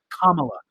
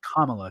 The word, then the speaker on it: Kamala: Oh, it's Kamala because they it's Kamala because the guy was like Kamala. it's like saying comma Kamala.